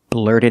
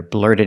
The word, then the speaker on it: blurted: out blurted it out so the tea and blur is a fast T the D in blurted is a fast D what about the T